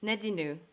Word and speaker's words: Nadinou: Nadino. Nadinu. Is That's that the French way?